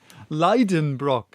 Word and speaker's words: Liedenbrock: I pronounced it the way I would pronounce it in German and not how I would pronounce it in English. Professor Liedenbrock, which is spelled Lieden, Brock.